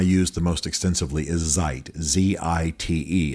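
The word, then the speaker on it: Zite: the most extensively is Zeit, Z-I-T-E. It's probably a play on the German word for time, Zeit, which is spelled slightly differently.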